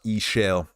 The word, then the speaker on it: Ishel: Ishel. That's how you say it. X-Shell apparently is how you write it out. But Ishel is how she proclaims to be her name in-game.